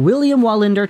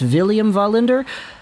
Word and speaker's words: Wallinder: But I do believe that in Sweden, they pronounce the W as two Vs in a row. So instead of saying William Wallinder, I'm pretty sure it's William Wallinder.